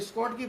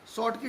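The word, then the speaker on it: Schottky: शॉर्ट की defect में आए, इसको अगर पढ़ते हैं तो उच्चारण स्कॉट की पढ़ा जाता है, लेकिन इसका जो उच्चारण है वो हमारा शॉर्ट की डिफेक्ट है।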